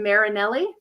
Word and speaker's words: Marinelli: Is it Marinelli?